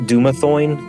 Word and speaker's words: Dumathoin: It is a subterranean temple to how do you say it? Dumathoin? I would say Dumathoin's yeah? good.